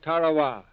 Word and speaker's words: Tarawa: there's a tiny island in the mid-pacific called Tarawa that pronunciation incidentally is from the National Geographic Society